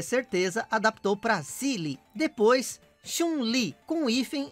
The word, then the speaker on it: Chun-Li: Então ele pesquisou e adaptou mais uma vez, para assim finalmente nascer o nome que conhecemos, Chun-Hei. Segundo a pronúncia japonesa, né? Que em mandarim se fala e escreve Chun-Li.